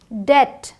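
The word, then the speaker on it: debt: नम ये डम क्रम डेट अब देखिए यहां बी साइलेंट है डेप्ट नहीं है ये डेट है प्लमर आधे से ज्यादा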